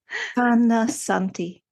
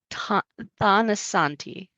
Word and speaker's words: Thanasanti: Thanasanti. Thanasanti. Thanasanti. The T is aspirated. So it doesn't sound like a tha, it's a ta.